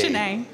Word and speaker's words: Jenee: Jane A. Like Renee, but Jane A. I didn't know that. Like first name Jane A. Does that change the menu at all? it right there. Jane A.